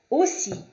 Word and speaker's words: aussi: Quando houver o A e o U, ou E, A e U, a pronúncia é sempre de O. O, nossa letra O, normal, sem biquinho, O. Bateau, O, aussi. O A e o U sempre vai ter o som de O, independente da onde, do posicionamento na palavra, da sílaba.